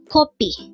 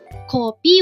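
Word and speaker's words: 커피: just need to remember copy with the O is um blood from the nose and copy with the a sound is the Korean term for coffee and P from copy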